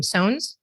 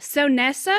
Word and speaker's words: Sones: say your last name sones yes yes it rhymes it rhymes with jones people always try to make it really fancy they're like is it so nessa and i'm like nope